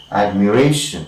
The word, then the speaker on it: admiration: Alright, so this one, the first syllable is taking secondary stress, and we say that it is articulated admiration, and we have primary stress here, and secondary stress here.